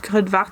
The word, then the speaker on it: Kruidvat: Alors Crudvart, ça s'écrit K-R-U-I-D-V-A-T.